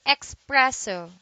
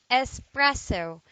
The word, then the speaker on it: espresso: fab sorry espresso espresso do not say expresso do say espresso it is a noun